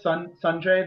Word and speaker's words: Sanjay: for what it's worth my name is pronounced more like son Sanjay then Sanjay it is nobody's fault